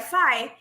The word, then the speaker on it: Faye: It is Diomaye Faye, and I was saying Faye earlier, so apologies.